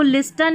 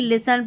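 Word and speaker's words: listen: टी देखें, STEN, ठीक है, और STLE ये वाला कॉम्बिनेशन रहता है, यहाँ पर टी साइलेंट रहता है। जैसे इसको लिस्टन नहीं लिसन पढ़ेंगे, यहाँ पर इसको कैस्टल या कास्टल नहीं कैसल पढ़ेंगे, ठीक है, टी साइलेंट है।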